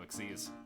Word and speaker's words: XYZ: Exceedes. I'm not even My mind went to Exodia for some reason. I'm actually not joking too. It's It's called XYZ summoning, but they pronounce it exceed summoning.